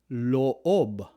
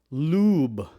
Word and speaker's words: loob: An example of this is in the word loob. Loob. Loob. Or inside. Loob means inside. Loob. Loob. Loob. You don't pronounce it as lube. Lube. It's always loob.